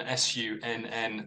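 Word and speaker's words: Sunn O))): uh so it's Sun s-u-n-n then with a silent uh zero and a series of parentheses of them but I'm I'm reliably informed it's just pronounced Sun okay and uh there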